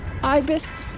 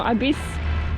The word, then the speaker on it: Ibis: We have arrived safe and sound at the Ibis or Ibis or Ibis, however you want to pronounce it.